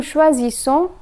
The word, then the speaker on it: choisissons: A single S is pronounced as Z, while double S is pronounced as S. So here's the conjugation. Je choisis, tu choisis, il choisit, elle choisit, nous choisissons, vous choisissez, ils choisissent, elles choisissent.